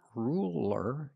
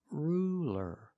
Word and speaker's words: ruler: light L that's right it's a light L because it's between vowels so it's not ruler it's ruler ruler use a light L it's straighter ruler ruler and what